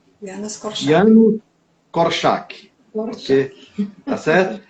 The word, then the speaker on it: Janusz Korczak: O nome dele é polonês e a gente tem que não se lê como se escreve, claro, né, no polonês. O nome dele é Janusz Korczak. Janusz Korczak.